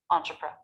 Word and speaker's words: entrepreneur: This next syllable happens very fast. The lips part and quickly make an R schwa before the stressed syllable. Pr. Entrepreneur.